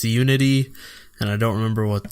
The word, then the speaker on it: UNI.T: But no, it's Uni period T. But it's pronounced Unity.